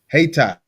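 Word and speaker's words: Hayti: According to police, uh they pronounce it hat. Hatai.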